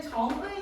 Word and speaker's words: 정의: 그리고 두 번째 글자 케이스는 정의 생각하면 됩니다. 정의가 원칙이기는 하나 정이라고 발음을 해도 우리 다 알아듣잖아.